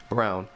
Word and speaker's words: Braun: Brown, his name is spelled Braun. I don't care what anybody says, but they call him Brown.